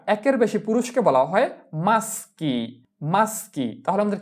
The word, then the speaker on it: maschi: পুরুষেরা একের বেশি পুরুষকে বলা হয় maschi maschi।